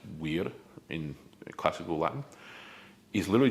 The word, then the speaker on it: vir: That v i r aspect of the word virtue, right? What would be pronounced weird in classical Latin, is literally just the word for man.